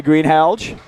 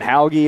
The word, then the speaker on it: Greenhalgh: I like the soft G you're doing. I'm going to check with her, but I have a feeling that's it. I appreciate the soft G, yeah. We were thinking Hauge at first.